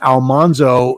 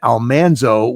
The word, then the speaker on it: Almanzo: And that was the recording where I discovered or was had confirmed for me that we had been mispronouncing the name Almanzo. It should have been Almanso.